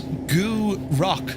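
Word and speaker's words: Gourock: Gurek. Gurek? Did I say Gurek? That was a grunt. I think you'll find the pronunciation is Goo Rock, sir.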